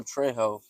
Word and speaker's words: Trejo: Oh, Trejo. Okay. Yeah, I definitely said that name wrong.